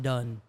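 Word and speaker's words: đần: added anne right but in vietnamese it's spelled d-a-n but it's it's pronounced done it's just means stupid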